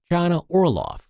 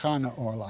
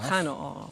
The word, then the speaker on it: Chana Orloff: Her name is actually pronounced Chana Orloff. Chana Orloff.